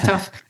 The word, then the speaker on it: Tough: It's pronounced Tooth in Scotland, but yeah, my name is Tough.